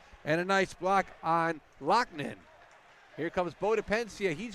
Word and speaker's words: Loughnane: Great job on pronunciation, too. Loughnane, yep. That's what we learned that tonight. The coach told us as well, so we appreciate that.